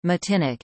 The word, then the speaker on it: Martinique: Martinique, French pronunciation, Matinic, is an insular region of France located in